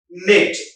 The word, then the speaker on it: knit: K-N-I-T, knit. K is a silent, knit.